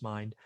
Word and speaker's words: MYND: And just today, a brand new fund by Invesco in Mind, MYND, I think it's pronounced Mind, $5 billion allocated money, ready to go.